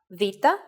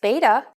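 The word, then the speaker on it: βήτα: Vita is such a case. It's very easy to slip towards beta, a word that came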